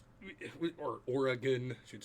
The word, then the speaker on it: Oregon: Yeah, Oregon, or Oregon, I should say it properly, was very similar too.